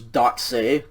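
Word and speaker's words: δόξῃ: so this one is dotse again you don't pronounce the ada i mean the yoda subscript you just pronounce the eta okay uh this one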